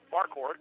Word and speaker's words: Marquardt: So it's Marquardt, just like the old Marquardt Bakery in Joplin years ago.